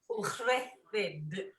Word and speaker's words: Ucheldiroedd: It's Ucheldiroedd, which is a really bad bit of Welsh.